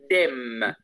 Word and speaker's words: dem: Trata de relajar, mira, de decir la diferencia entre den y dem. El uno es con N y el otro es con M. Trata de pronunciar ambos diferentes. Den, dem.